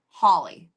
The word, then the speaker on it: Halley: Halley, the comet.